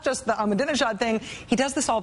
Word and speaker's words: Ahmadinejad: You do not negotiate with people like, I have a hard time pronouncing this, Maddow John. Armadingadingo.